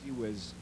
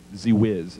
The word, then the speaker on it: Zewizz: Pronounce your last name, please. Z-Wiz. Z-Wiz. Z-Wiz.